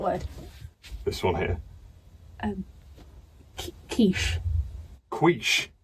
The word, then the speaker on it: quiche: No, like quiche with a k sound at the start, like in the name Keith. I can't say that. What, Keith? I struggle with TH sound, so it just comes out like Keith. Well, no, you don't need to say the because it's the word's quiche with a sh sound at the end. It's not Keith.